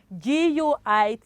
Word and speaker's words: guitar: Guitar is what? Guitar. Is what, children? Guitar, not guitar.